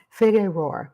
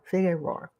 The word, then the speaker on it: Figueroa: to look up and how to pronounce figurar f i g e r o a figer figurar figurar I've been practicing that fig Roar fig Roar Street in Los Angeles and